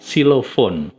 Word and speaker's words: xylophone: Xylophone yang apa, alat musik ketuk gitu ya, itu tulisannya pakai X depannya, tapi membacanya pakai S.